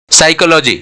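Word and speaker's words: psychology: N silent हो गया साइकोलॉजी P silent है और ये साइकोलॉजी यहां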